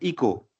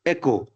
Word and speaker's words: Echo: ठीक है, हम लोगों ने इन Bihar, Bengal and east UP, Uttar Pradesh, ठीक है, वहां पे इसको पढ़ते हैं इको. लेकिन इन आरटी वी नीड टू से एको.